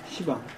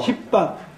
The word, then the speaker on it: 시방: 시방. 불교에서 얘기하는 시방세계. 열십자 모방자서 십방. 근데 십방이라고 안 읽고 시방이라고 읽잖아요.